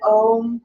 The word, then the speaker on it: Om: our pineal glands with one big solid ohm pronounced aum inhale oh